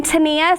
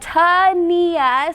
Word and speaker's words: Tenia: so like Tyler said I'm Tania so it's like Tania so if you see my name written you know how to say it and I'm the president